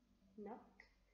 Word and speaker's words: knock: So, letter N is stronger than letter K. Letter N is stronger than letter K. Now, I'm gonna keep letter K as a silent letter to start the word from letter N.